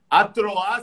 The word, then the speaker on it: Atroá: A Troá se escreve A-T-R-O-A, certo?